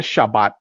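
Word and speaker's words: שבת: de reposo o el Shabbat en hebreo. Okay. Por eso es que le puse título, el Shabbat. Eh, se pronuncia Shabbat en hebreo, pero al transliterarlo a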